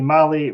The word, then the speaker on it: Mahle: And for our podcast listeners, Mali is spelled Mahle.